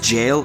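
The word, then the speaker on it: gaol: jail huh jail it's pronounced jail literally Jail jail okay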